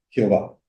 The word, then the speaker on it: Jehová: El nombre se pronuncia Jehová, prestándole los signos vocálicos de la palabra no prohibida Adonai, Señor.